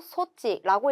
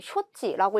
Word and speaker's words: 措置: 얘는 조치를 뜻하고 소치라고 읽어주시면 돼요. 정답은 3번에 있죠. 장단음에 유의해서 외워주시면 되는 단어가 되겠습니다. 선택지 1번에 쇼치라고 읽으면 뭐가 되냐면 처치가 될 거고요. 4번처럼 장음으로 읽어서 소치라고 하면 장치라는 뜻이 돼요.